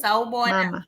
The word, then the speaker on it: sawubona: I would say, like, is it Sawi Bona? Sawi Yes, Bona mama. Mama? Is that So right? sawubona, Mama. mama. Okay. Yes, yes, that's correct.